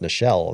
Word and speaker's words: Nichelle: I am pretty poor pronunciation at time, but Nichelle is just like Michelle with an N.